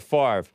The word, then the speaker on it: Favre: know it's spelled favory favorite farver but it's pronounced brett favre he was invisible in the shadow the dude